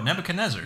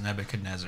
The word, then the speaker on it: Nebuchadnezzar: Oh, Nebuchadnezzar.